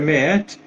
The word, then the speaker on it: Maat: Então, esses deuses do passado, Osíris, Horus, Meet, né, no caso se escreve Maat, mas se pronuncia Meet, Anubis, esses são aqueles